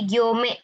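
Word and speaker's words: 行: Nah, ini bacanya gyo ya minasang. Hati-hati dia bacanya ada dua nih, ada ryoko. Nah, ko ya. Kemudian dia di sini kalau untuk garis bacanya gyo minasang ya. Gyo panjang ya.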